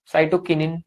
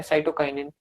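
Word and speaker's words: Cytokinin: ये साइटोकिनिन या साइटोकाइनिन, दोनों प्रोनाउंसिएशन ठीक है जी।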